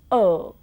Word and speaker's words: world: Similarly, when you say world, there is O and R coming together in that word in spelling. In pronunciation, it gives you world. And then you say L and D. You don't pronounce R at all.